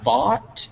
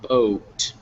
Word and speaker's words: bought: just one thing uh that word bot b-o-u-g-h-t bot not boat so when you're saying it sometimes you say a little bullet or with a kind of a double constricted vowel sound where it's just ah bought okay okay and um